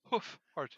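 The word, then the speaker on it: Hoof Hearted: been so careful from the very first time I saw it to pronounce it hoof-hearted.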